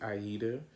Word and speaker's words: Aida: So yes, I left off talking about Ida, the Ethiopian Disney princess, who they put on Broadway, and I was pronouncing her name incorrectly. It's Aida.